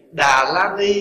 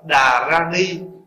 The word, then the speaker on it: Đà Ra Ni: Như vậy thì Đà La Ni hay Đà Ra Ni, cái nào cũng được hết, tùy theo cái vùng, không? Tùy theo vùng Bắc hay là Huế hay là Nam gì đó mà phát âm cái chữ đó. Nhưng mà nếu mà nói là phát âm cho nó gần nhất thì chúng ta đọc Đà Ra Ni thì nó gần hơn cái chữ nguyên thủy là Đà Ra Ni.